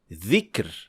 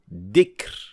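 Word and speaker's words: ذكر: The second mistake is pronouncing dhal as dal. So, for example, saying dhikr as dikr with da sound. These two sounds are completely different, and some learners make the mistake of pronouncing it as zay. So instead of saying dhikr, they would say zikr. And both of these are clear mistakes that must not be made when reciting the Quran.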